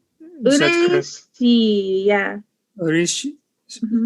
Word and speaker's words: 嬉しい: Oreshi? Ureshi, yeah. Oreshi. Mhm. Pronounce that once more. Ureshi. So you just break it down by each vowel.